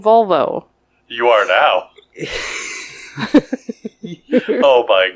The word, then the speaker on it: Volvo: Volvo not Volvo not valvo I'm not saying Val I'm saying vol yeah what where are